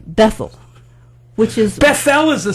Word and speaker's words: Bethel: It's Bethel. Bethel, which is... Bethel is a synagogue somewhere. But There's a place in Israel. Bethel, New York. We just put the emphasis on the wrong syllable.